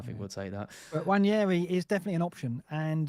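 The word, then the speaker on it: Nwaneri: The you don't pronounce. Yeah. Waneri.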